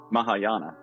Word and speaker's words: Mahayana: terraa and Maha how do you say that Mahayana and Mahayana Buddhist Traditions Mikey was given the